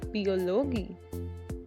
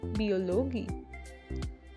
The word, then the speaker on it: Biologie: Next is IE, which is always pronounced as E, die Biologie, die Biologie.